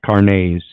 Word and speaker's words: carnets: It's actually pronounced carnets. Carnets. French, seemingly.